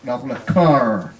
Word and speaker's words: car: Car. Xe hơi, car. Car. C-A-K, cờ A-K có hai chấm không? Có. Đó, đọc là car. Car. Car. Chứ không phải ca, yeah, car.